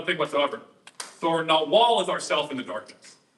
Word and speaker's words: Nagual: Nawal. It's like in Castaneda it's called Nagual, but like the G in Spanish is silent. So like Nawal, N-A-H-U-A-L.